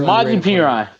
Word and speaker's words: Samaje Perine: Who's your Samaje Perine?